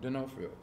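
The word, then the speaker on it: D'Onofrio: Denofrio.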